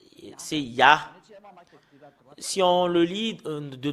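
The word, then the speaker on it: יה: il y a vraiment un terme qu'on le prononce, c'est Ya. Il y a vraiment une façon comment prononcer ce terme, le Yod et He. Les Juifs l'ont prononcé en Ya. Et ce que nous voyons sur l'écran, c'est Ya. Comment on le prononce? C'est I-A-H.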